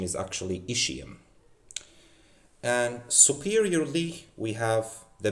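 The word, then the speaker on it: ischium: and below postro inferior plane we have the ishium. Many people call it iskum. I used to call it iskum but now I I I came to realize that the correct pronunciation is actually ishium.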